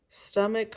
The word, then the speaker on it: stomach: last week about how even though stomach has a ch in the word it's not pronounced cha it's pronounced like a k an ache is the